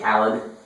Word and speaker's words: DJ Khaled: As DJ DJ Kled would say. Is that how you say his name? DJ Khaled. Yes.